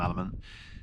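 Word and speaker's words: LMNT: People just pronounce them element.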